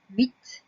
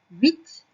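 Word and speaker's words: huit: Ensuite, 8, H-U-I-T, donc on commence par un H muet.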